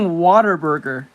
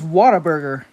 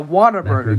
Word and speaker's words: Whataburger: I've been saying Waterburger. But I don't think that's how it's called. I think it's Whataburger, not Waterburger.